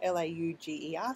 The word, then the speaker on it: Lauger: I assume that's how you spell it, L-A-U-G-E-R, so how you say it, Lauger.